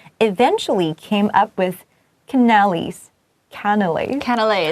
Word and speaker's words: canelé: Canelés. So difficult to pronounce. So confusing. It also sounds pretty like canal.